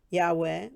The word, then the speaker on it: Yahweh: yahweh which is how i pronounce the name of god which is why hwh